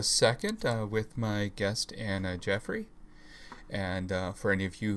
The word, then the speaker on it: Geoffroy: in just a second with my guest anna jeffrey and for any of you who were having trouble pronouncing that name that is how it's pronounced